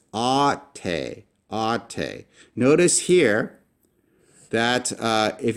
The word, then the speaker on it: αὐτη: Can you pronounce this? This is αὐτη = "ah-tay."